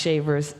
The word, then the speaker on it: Chavers: Chavers, which is pronounced Shavers, Chavers, Chavis, Chavis.